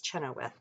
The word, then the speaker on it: Chenoweth: Just make sure, yes, Chenoweth.